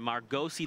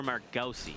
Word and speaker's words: Margosi: I actually had a chance to meet, well, when I interviewed him, I was like, is it Margos or Margosi? He said Margosi.